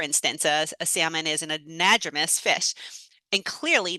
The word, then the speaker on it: anadromous: fish passage, specifically fish that were an, a, anadromous, I think is how you pronounce it, anadromous fish.